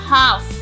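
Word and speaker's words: half: would यह है should should could would should palm L silent palm काम हाफ हाफ smell silent walk walk पे जा रहे हैं जी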